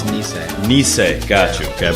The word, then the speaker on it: Nisei: Tell me how you pronounce it. It's Nisei.